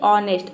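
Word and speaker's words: honest: ले ते हैं ऑनेस्ट ऑनेस्ट में देखिए जी एच के बाद ओ है यहां पे हम एच को एच का साउंड होता है ह एच को हम ह प्रोनाउंस करते हैं लेकिन देख लीजिए ऑनेस्ट में ह का साउंड नहीं है मतलब कि यहां पे ए लेटर साइलेंट है ऑनेस्ट मतलब होता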